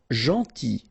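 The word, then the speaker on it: gentil: final t not pronounced janti. So it's a strange one because here this final l is not pronounced.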